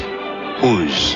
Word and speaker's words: Oz: It's spelled exactly the way Oz is spelled. O-Z. But it's pronounced Uz.